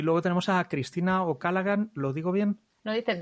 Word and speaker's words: O'Callaghan: Y luego tenemos a Cristina Ocalagan.